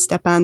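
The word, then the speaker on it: Stepan Bandera: he actually um calls i say stefan bandera not step on because i've seen it spelled with an f as well and i i just i just say it that way but um he declares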